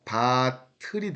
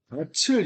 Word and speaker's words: 밭을: 그래서 얘는 소리를 연달아 발음한다는 뜻입니다. 바틀이 돼요. 바틀. 밭을 이러면 안 돼요.